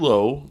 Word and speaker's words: Lowe: not okay so Ann Lowe the last name is spelled like the hotel okay okay well is